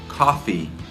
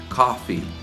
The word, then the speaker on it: coffee: Em inglês, a palavra tossir, você pronuncia assim, cough, cough. E a palavra café, você diz coffee, coffee.